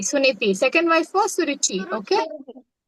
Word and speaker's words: Suniti: Uttalapada. Yeah. Uttanapada's first wife? Suriti. Suliti. Suniti.